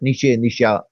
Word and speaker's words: Nietzsche: All right, Nietzsche, the various pronunciation, but let's confine ourselves to the anglicized pronunciation, Nietzsche.